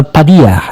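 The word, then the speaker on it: Padilla: Eh kalau bahasa kalau sebut namanya Alejandro eh Padya ya. Cara membacanya begitu. Kalau Mexiko itu Mexiko membacanya ya. X itulah eh H artinya.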